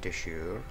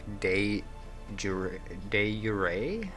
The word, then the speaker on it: de jure: Domain and Deshur. Deshur, I'm pronouncing it. Wrong. Not really, though. I think I'm doing the French pronunciation, but in English, it should be something like De Jure.